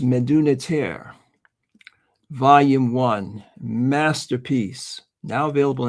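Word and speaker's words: Medu Neter: It's pronounced Meduniter volume one masterpiece.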